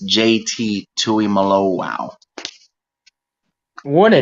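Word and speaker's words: Tuimoloau: number 44 is JT and as it's technically pronounced it's JT Tui Malo wow what a name and do not it's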